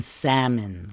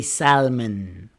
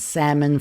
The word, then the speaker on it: salmon: H in yogurt, B in lamb, and the L in salmon. We don't say salmon. I brought yogurt, lamb, and salmon for brunch.